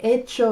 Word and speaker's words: echo: And it sounds the same, but the spelling es un poco diferente. Te echo lo menos, echo is spelled E-C-H-O. But what we're studying esta semana, starting today, is hecho, which is spelled H-E-C-H-O. And it means fact, deed, done, or made.